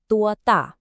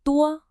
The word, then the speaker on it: 多: For 多, make sure you really round your lips to get that clean O vowel sound.